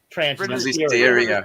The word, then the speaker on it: Transnistria: have a question about transnistria and I know that our good friend uh um Scott Ritter pronounces transistoria but he's really the authority